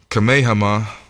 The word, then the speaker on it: Kamehameha: watch TV so they had a king chime pronounce his name King Kamehameha the great and he is a time frame